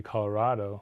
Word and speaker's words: Colorado: the new ones right newcomers are more likely to hew closer to the Spanish pronunciation Colorado you don't say have a cat oh right so it should be Colorado like avocado like tostada right Sandoval's says